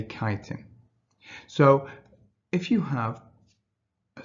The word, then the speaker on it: chitin: I know it's spelt chitin, but we say chitin.